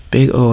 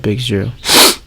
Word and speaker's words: Big O: Big O analysis pronounced big O not big zero is one way to